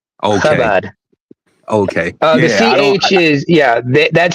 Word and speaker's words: Chabad: not Chabad. It's pronounced Chabad. Okay. Chabad.